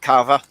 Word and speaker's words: kava: goth um speakeasy themed kava bar awesome yeah how do you spell that carver k-a-v-a it's like java but with okay do